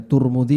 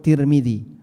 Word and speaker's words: Tirmidzi: Baik, bisa dibaca Turmidzi, bisa dibaca Tirmidzi. Ada dua cara baca. Tapi yang masyhur Tirmidzi.